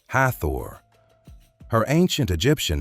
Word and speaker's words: Hathor: In English, the standard spelling is Hathor, usually pronounced something like Hathor.